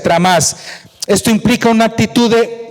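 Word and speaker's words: τρόμος: Por otra parte, el temblor que se menciona allí, de la palabra griega tromos, que se pronuncia tramás, esto implica una actitud de humildad y seriedad ante la presencia de Dios.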